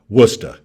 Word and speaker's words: Worcester: the way i'm from massachusetts and yes it's pronounced worcester new york state new york legislative leaders recently